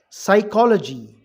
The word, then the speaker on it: psychology: Psychology, P silent.